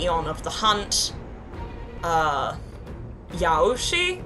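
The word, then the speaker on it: Yaoshi: of the hunt uh Yoshi I believe is how you say his or her name is the ion of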